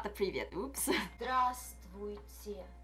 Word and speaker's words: Здравствуйте: Здравствуйте. Pronunciation is given in the square brackets. Здравствуйте. Здравствуйте. Здра. In the second syllable, дв is silent.